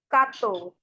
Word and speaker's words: quatorze: Quatorze, quatorze, quatorze, quatorze. Okay, say quatorze, quatorze, quatorze, quatorze, quatorze, quatorze, quatorze.